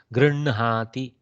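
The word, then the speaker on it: गृह्णाति: Okay, but the pronunciation will be n plus h plus a. Okay, so that is what we have to remember. This is one place where we reverse the pronunciation. Okay. Okay, so hna. So we here we don't do hna, we do nha, like that. Grinhati, grinhati.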